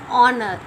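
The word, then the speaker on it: honour: And the next word is honor. Here H is silent.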